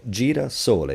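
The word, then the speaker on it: girasole: So jir sole doesn't matter that this S is between two vowels.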